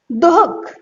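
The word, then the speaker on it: दुःख: हा साउंड तो निकलेगी लेकिन धीमे निकलेगी, आधे रूप, आधा हा के रूप में। दुख, दुख, दुख।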